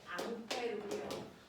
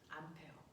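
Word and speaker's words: Ampère: 이 새끼가 플랑스 사람이라서 암페르가 원래 이름인데 이걸 미국 놈들이 뭐라고 읽게? 암페어 그 사람입니다.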